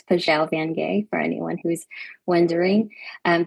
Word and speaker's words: Pajau Vangay: Um, maybe I should just I know my name is very difficult to pronounce and so it's Pelle Vanay for anyone who's wondering.